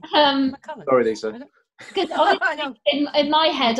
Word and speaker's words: McCullen: McCullen? No. McCullen. Yes. Is it C-U-L-L? Yeah. McCullen.